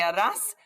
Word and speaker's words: harás: So remember, you're not pronouncing the H. ¿Qué harás este fin de semana?